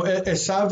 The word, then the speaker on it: Esav: So Esav is how you say Esau. Esav is Esau.